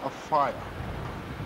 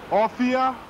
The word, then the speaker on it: Offiah: be Martin's best friend his surname is pronounced AIA but the English press call him a fire he should be called offia cuz he's a good